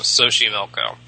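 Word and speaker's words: Xochimilco: that still exists today I think is called SOI milkco XO c i m i l c sohi milco I'm not totally certain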